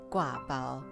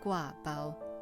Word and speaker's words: gua bao: mentioned previously the name gua bao has many interesting meanings so i want to share with you first of all guava is a taiwanese dialect pronunciation it's not official mandarin chinese but it's the most